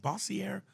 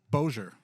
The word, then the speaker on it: Bossier: here to to Bosier, how do you say that? Bossier. Bossi. Bojer. Is that really it? Right. Wasn't it Bojer, Louisiana? Bojer City.